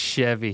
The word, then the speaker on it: Chevy: they S I think it's pronounced Chevy well it ain't a s it's a CH last time I saw